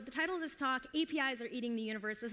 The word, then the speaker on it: API: going to go with API but Spanish speakers French speakers a lot of people do say Opie okay so the title of this talk apis are eating the universe